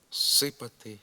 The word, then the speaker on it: зсипати: з як префікс так і прийменник з перед глухими приголосними послідовно оглушується тобто переходить у звук с наприклад пишемо зсипати зсідатися зсувати засукувати зцідити зцілити зціпити абимовляємо сипати сідатися сувати суукувати стідити